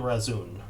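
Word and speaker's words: Razun: pulling back for now but uh i am razoon okay what what's a razoon that is my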